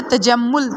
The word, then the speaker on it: تجمل: سے تلفظ واضح کریں۔ پہلا لفظ ہے تجمل، تے پہ زبر، جیم پہ زبر، میم پہ شد اور پیش اور لام پہ جزم۔ مصور، میم پہ پیش،